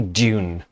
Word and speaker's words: DVNE: I'm Hedgie, and this is, well, I'm going to say Dune. Though it's spelled DVNE, it looks like Dune, so I'm going to call them Dune.